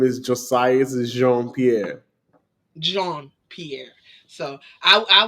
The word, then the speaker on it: Josiah Pierre: name the correct way cuz I know I butchered it yeah my name is Josiah Pierre John Pierre so I I was I was